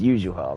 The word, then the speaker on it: Yuzuha: It's Yuzuha, right?